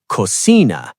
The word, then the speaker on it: cocina: instead of trabajo, or cocina instead of cocina. Wait, actually, cocina ends in a vowel, so it's second to last. Cocina.